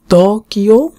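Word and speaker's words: 東京: তো এখানে কিছু আমরা ওয়ার্ড দেখব, যেমন টোকিও একি, টোকিও স্টেশন, টোকিও মানে উচ্চারণ, ত এর সাথে এটার উচ্চারণটা একটু লম্বা।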